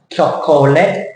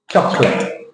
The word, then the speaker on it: chocolate: that that's not correct the words are chocolate Chate in this one the O disappears the vowel goes away in this example here the old it's not CH it's ch ch yeah chocolate if you go to